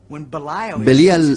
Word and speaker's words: Belial: Belial es una contracción de dos palabras hebreas, Beli y Yaal. Beli Yaal, que nosotros pronunciamos Belial.